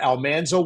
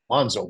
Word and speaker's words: Almanzo: So I came in in season six to be this character Almanso Wilder. He pronounced his name Alonszo Wilder incorrectly. One of the few overt mistakes that was made.